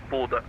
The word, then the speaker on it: Bodø: And for all those wondering, since I sometime it's pronounced Bodø, but we have a letter, the is pronounced like so Bodø. Buddha. Like the idol.